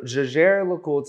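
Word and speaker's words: Jaeger-LeCoultre: Commonly heard, you'll often hear Jaeger, Jaeger, JLC is a very common abbreviation for the term, but Jaeger LeCoultre is going to be the actual pronunciation of the manufacturer and the brand.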